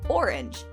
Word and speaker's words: orange: Think of that knock-knock joke where you say knock knock over and over and finally end it with orange, and it goes into orange, you glad I didn't say knock knock. That only really works because orange and aren't have the same number of syllables.